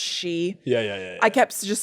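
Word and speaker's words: Sidhe: don't know it all that word is spelled like Sith but it's really pronounced she yeah yeah I kept just saying Sith yeah and Sith yeah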